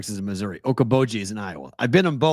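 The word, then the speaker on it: Okoboji: jobi plenty of times how do you say it okab okaboji okaboji yeah okaboji Lake okoi I had to practice that a hundred times say it wrong million times EOD Sean thanks for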